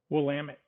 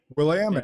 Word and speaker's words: Willamette: He was the first person to swim the entire 187-mile length of Oregon's longest river, the Willamette River. Did I pronounce that right? Willamette. Willamette.